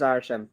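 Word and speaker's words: Arishem: Arsham? Arsham? Hold on. It is Arsham. Arsham. My gloves are. I can't type with them. Let me take. I'm pretty sure it's Arsham. Yeah, it is Arsham.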